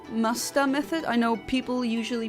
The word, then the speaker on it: Masuda: So, um the method that I'm using is called Musta method. I know people usually pronounce it as massuda method, but that's not really the correct Japanese pronunciation.